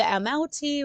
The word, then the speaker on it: amauti: The Qalupalik are always wearing an amoti. Oh man, I hope I pronounced that right. I am so sorry for this mispronunciations. But the amauti, which is Amauti, it is that parka type